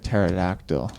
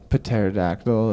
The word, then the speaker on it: pterodactyl: Or like pterodactyl. Or like pneumonia. Exactly. Would they use the silent letters? Pterodactyl and pneumonia.